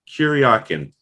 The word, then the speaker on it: Kuryakin: ilia character and could you go ahead and pronounce his last name for me kuryakyn kuryakin yeah and and the executive was saying like